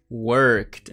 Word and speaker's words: worked: Basicamente, a gente não pronuncia esse E, beleza?